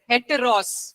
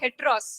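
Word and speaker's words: ἕτερος: आपने स्पेलिंग सुन लिया। And then the second word for another is हेटेरोस।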